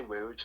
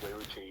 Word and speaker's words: Weruche: Do I say Weruche or do I say how do you, it's Weruche, right? Just pronounce it Weruche, right?